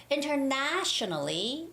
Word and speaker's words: internationally: too long i know internationally internationally normally when the word is international it's the same the internet the third syllable has the stress so it's international and it's the same with internationally internationally and the word